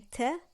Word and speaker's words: ت: On le prononce comme ta et on l'écrit de 4 façons.